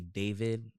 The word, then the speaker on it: D4VD: No, David is it's spelled D4VD.